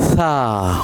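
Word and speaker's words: ث: And we will learn its sound that is Tha Bring your tongue between the teeth and read Tha Okay?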